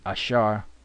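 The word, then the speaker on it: אשר: Napal is wrestling okay Asher is Asar AAR which is Asar means happy all right all right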